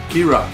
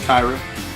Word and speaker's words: Kyra: It looks like Kyra. Kira. I was gonna mess it up. Last chance to get your votes in. Match 3. Exclamation point. Match 3. Scarlett, Kira, and Britt.